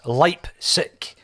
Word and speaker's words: Leipzig: to Consulting YouTube and YouTubers told me that it's leipzick that's the way that you pronounce it I don't know if